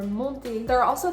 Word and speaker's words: monter: And the same thing goes for infinitive verbs that end in ER. Although R is the last consonant and it is part of this mnemonic that says careful, these consonants are pronounced. You are not going to hear the R. For example, in aller or monter.